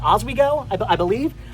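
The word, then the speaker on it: Oswego: I think it's actually it kind of sounds like as we go, but it's it's O as we go.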